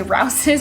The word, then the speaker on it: Rao's: My favorite to use is Rao's, or some people say Rouse's. Honestly, I think I say Rouse's, but I was looking at it today and was like, I think that's actually pronounced Rao's.